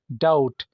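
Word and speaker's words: doubt: silent है आखिर में डाउट शक को कहा जाता है इसमें भी बी साइलेंट है नम सुन होना जैसे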